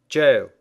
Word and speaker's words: Gaol: : Chaos Хаос Gaol Тюрьма Есть один интересный момент, связанный со словом Gaol . Вы можете встретить его абсолютный синоним в виде Jail . Они, как видите, даже произносятся одинаково.